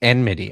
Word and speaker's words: enmity: It was enmity, I think, right?